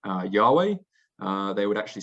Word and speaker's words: Yahweh: w h um and the best reconstruction we have of how that would have been pronounced um is yahweh um so that is